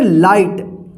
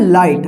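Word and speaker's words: light: ल आई जी हा टी इसको क्या पढ़ेंगे लाइट रूल क्या था की जब किसी शब्द में आई के बाद ग रहे तो इस आई का आई उच्चारण होगा ठीक तो इसलिए इसको पढ़ा गया है लाइट ध्यान रखिएगा तो देखिए इसको हम एक बार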